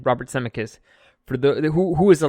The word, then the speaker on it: Zemeckis: it will be co-written and directed by Roberts Emmerich semi-kids I'm sorry that's how you say his name Robert Zemeckis for the who is a legit director dude